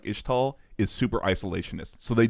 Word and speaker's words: Ixtal: from everybody, Is it Ishtal? I always say Ixtal. I always say the X. I feel like it's probably Ishtal. Okay, just I'm based, sorry. Just based on like how their town name is pronounced too, with like the Ishao Khan.